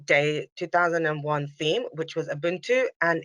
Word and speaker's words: ubuntu: describes described as an african philosophy in israel pronounced as ubuntu is meaning humanity uh it is often translated